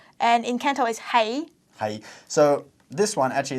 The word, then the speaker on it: 是: And in Canto is hei.